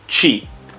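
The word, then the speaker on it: ち: have ta she so e with the t sound is chi it's not t like teemu no it's chi like cheese next is it's not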